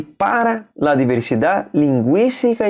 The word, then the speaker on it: linguística: Palavra linguística, veja que tem trema em cima do U, porque pronuncia o U.